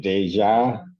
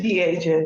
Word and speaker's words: Deja: people versus is it Deja? I probably mispronounced that, but it's Mr. Birds. Pass to the people. And good morning, but please honor. Um, it's Dia, y'all.